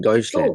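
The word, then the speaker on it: Deutschland: German अपने को German नहीं कहता है, जर्मनी अपने को जर्मनी नहीं कहता, ड्यूलैंड ड्यूसलैंड क्या कहता है, आपको ज्यादा बेहतर उच्चारण पता होगा। डॉइचलैंड।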